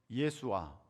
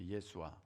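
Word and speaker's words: ישוע: 그 당시 아람어로는 예수와 이렇게 발음하면 되거든요. 예수와.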